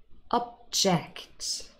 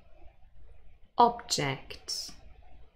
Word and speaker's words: object: So we have verbs, those are stressed on the second syllable, and then nouns, and they are stressed on the first syllable.